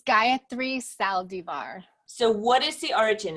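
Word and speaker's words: Gayatri Saldivar: actually solve it now tell me I completely butchered your name so say it properly for me yes it's Gayathri Saldivar so what is the origin of that name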